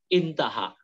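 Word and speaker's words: انتهى: Amma maniyul mar'atu fama'un maniyul mar'ati fama'un usfuru raqiqun asfaru raqiqun aha bukan aha, namun intaha. Intaha itu artinya singkatan dari intaha. Aha itu bukan aha bacanya, intaha.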